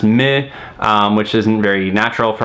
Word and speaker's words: MØ: some ikea furniture before her name is spelled mo with a little slash line through it so this would be pronounced with the end a nash at least where she's from with the sound do now this would result in her name being pronounced mid which isn't very natural